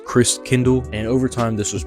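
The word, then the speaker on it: Christkindl: from the Christ child the German way to pronounce it is Chris Kindle and over time this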